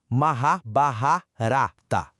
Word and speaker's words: Mahabharata: A pronúncia certa, com a força na sílaba correta, carrega a musicalidade do poeta original. O certo é maha barrarata.